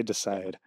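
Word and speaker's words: Dsyde: I think it's Decide, but D-S-Y-D-E. I'm going to say Decide.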